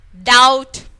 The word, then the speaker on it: doubt: Det, then doubt. Here also B is silent.